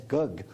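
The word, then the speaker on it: gấc: I believe the Vietnamese pronounced it as gug.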